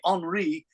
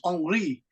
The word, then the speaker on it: Henri: So it's Henry, but they say Henri because French people don't say H. So maybe they spell it like this, but the pronunciation is Henri.